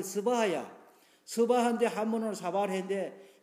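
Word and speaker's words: स्वाहा: 인도어로서는 의미가 발음을 하게 돼 스바하야.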